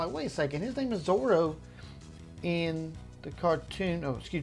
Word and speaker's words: Zoro: way it smelled but it's also it's actually pronounced Zorro so they were just avoiding any kind of